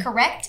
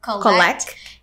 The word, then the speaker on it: correct: right so correct instead so it should be correct instead of collect and then cherry yeah